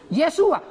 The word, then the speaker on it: Yeshua: Yeshua.